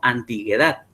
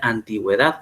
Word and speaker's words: antigüedad: por ejemplo tenemos antigüedad si antigüedad no llevar a la diéresis nosotros dijéramos antiguedad pero como la regla por palabra nos dice que la uv debe pronunciarse entonces se le pone la diéresis en la u haciendo referencia que cuando usted pronuncia la palabra tiene que decir antigüedad porque tiene que pronunciar entonces ese mismo elemento